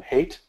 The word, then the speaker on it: Haidt: A lot of that is based on a book by Jonathan Haidt, or Haidt, I think it's pronounced, H-A-I-D-T, a book called The Righteous Mind.